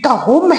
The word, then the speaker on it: دہم: عرض کرتا چلوں کہ یہ صحیح تلفظ جماعت دہم ہے، جماعت دام یا دہم نہیں۔ ثبوت کے لیے آپ